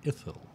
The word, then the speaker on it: Ithil: okay, what is chiseled in stone the proper pronunciation of our two new legendary servers? And was told Honor and Ithil.